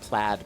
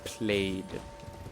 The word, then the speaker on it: plaid: She was from Malaysia and she pronounced plaid played. And to this day, I don't know if that's a British English thing. she learned British English or if that was just a her thing.